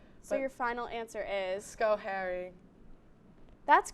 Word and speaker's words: Schoharie: Schoharie. That's correct. Oh my God. Schoharie. I have the pronunciations written down on my phone because some of these are confusing as well.